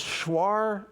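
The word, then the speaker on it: Shuar: And we go to this guy, this this schwar medicine man's home. Schwar s h u a r is how that's spelled.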